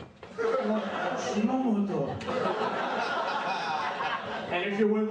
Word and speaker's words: Shimamoto: First way is, Shimamoto. When you say it, look at my, I don't know if you can see this, you gotta put the fish lips. Shimamoto.